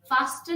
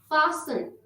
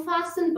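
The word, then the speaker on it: fasten: हैं कैसल, लिसन, wrestle, फासन, फास्टन नहीं फासन, क्योंकि S और E के दरमियान T आ रहा है तो हम इसको खामोश रखेंगे, हम फासन पढ़ेंगे।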